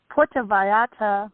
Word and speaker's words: Puerto Vallarta: Puerto Vallarta, Mexico. See? Did you hear the Spanish come out of her?